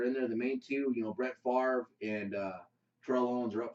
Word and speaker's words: Brett Favre: He was the definition of a gunslinger, and everybody knows Brett Favre. Yeah, everybody knows Brett Favre. Brett Favre. Brett Favre. Brett Favre. It's actually pronounced Brett Favre.